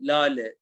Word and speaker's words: Lale: So Elif, Hilal, and Lale, even though there is a H in here, it's not pronounced. It just makes you prolong the last character. So La, Le, that's why we prolong the Lale over there.